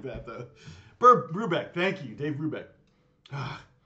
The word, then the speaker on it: Brubeck: that's not right it's something like that though Brubeck thank you Dave Brubeck ah thank you Catherine